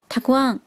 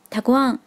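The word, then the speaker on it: たくあん: 然后还有一盘腌萝卜，腌萝卜的日文是念作 takuan， takuan。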